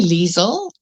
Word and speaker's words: Leisel: Is it or Lizelle? It's actually Leisel.